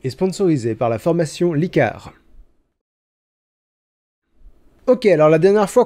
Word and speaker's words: Licares: sponsorisée par la formation licard ok alors la dernière fois qu'on en a parlé je me suis trompé dans la prononciation de la formation j'ai prononcé licares mais c'est bel et bien licar donc mon petit défi